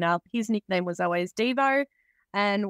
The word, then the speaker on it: Devo: his nickname was always dvo and we always say it's uh dvo as in whip it good like the song not Devo as in do you'll be devastated